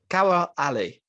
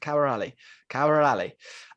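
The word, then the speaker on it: Khawar Ali: Their best players, Kawar Ali. I'm pretty sure that's right. I did listen to how to pronounce it. Kawar Ali.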